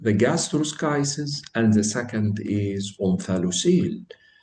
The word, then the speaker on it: gastroschisis: And by the way, the Americans say gastroschisis and the British say gastroschisis. Both are right. However, we will use the American way. So we will say gastroschisis. Gastroschisis, it is one of the abdominal wall defect.